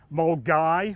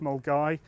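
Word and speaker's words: Milngavie: It's made in the town of Mulgai, which is spelt Milngavi but pronounced Mulgai, and it's actually quite a picturesque little town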